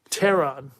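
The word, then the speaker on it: Pteron: Terron. P is silent.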